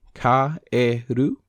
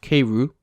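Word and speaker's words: かえる: For example, if you say the word keiru, you would simply say ka-e-ru. The E does not exercise magical powers over the A in the way that it would in English. This is most definitely not pronounced keiru, as I did before.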